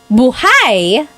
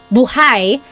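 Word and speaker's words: buhay: If you say buhai, the emphasis is on the second syllable. Buhai.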